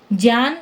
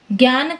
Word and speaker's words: ज्ञान: इस नियम के अनुसार इसका शुद्ध उच्चारण ज्य JYA जैसा होगा।